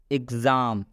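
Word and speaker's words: exam: जैसे एग्ज़ाम, एग्ज़ाम में एक्स का उच्चारण गज से हो रहा है।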